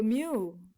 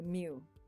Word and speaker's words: mu: it starts off with a long stroke so mu u is how you pronounce it mu is a greek symbol to indicate expected value